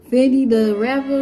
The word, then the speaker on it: Fendida Rappa: Now today we're reacting to Fendi the Rapper, and that's how you say it, Fendi the Rapper featuring Cardi B.